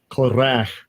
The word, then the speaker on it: Korah: Korach.